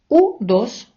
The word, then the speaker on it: U2: б трошки зупинитися і навчити вас як вимовляти іспанською назви деяких музикальних гуртів які ми вимовляємо на англійський лад а от іспанці читають їх і ю а саме у дош асе десе тенсесе це вам на згадку про